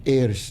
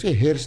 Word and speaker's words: heirs: Medyo kinakabahan ako dun sa heirs ni attorney. Buti tama yung pronunciation niya. Yung mga kliyente ako hairs na hairs. Attorney, walang hairs. Ayun po, pronunciation ay silent age. Ano? Hindi po yung with age.